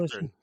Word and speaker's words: Ogburn: Ogburn.